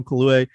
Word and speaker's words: Kaluuya: It's also good to see like Daniel Kaluuya. I think that's how you say it. I want to make sure I'm saying it right. Kaluuya.